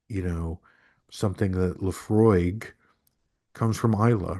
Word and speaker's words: Laphroaig: And they had no idea what you're talking about or they think that it needs to be pronounced Laphrogue or Islay instead of Islay, whatever.